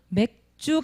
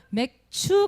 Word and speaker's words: 맥추: 발음 잘 못하 만듭니다 맥주 감사 주일 아닙니다 맥추 감사 주일 이에요 그죠 이날은 말은 날일까요